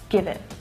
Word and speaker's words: give it: And also that T is a stop T, which means that I'm not fully pronouncing it. I'm not letting the air go afterwards. I'm not saying give it, but give it, give it. So it's stopping, I'm not releasing the air.